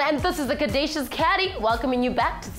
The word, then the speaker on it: Caddy: It's your boy C-A-D-D-Y, pronounced Caddy, yet on another mission running the streets of Johannesburg.